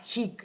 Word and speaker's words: HIG: Pronuncia il mantra HIG una sola volta.